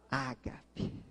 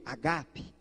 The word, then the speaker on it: ágape: Ágape. Ou uma melhor pronúncia do grego, agape, do verbo agapau. Repita, agape. Ou aportuguesado, ágape, não tem problema.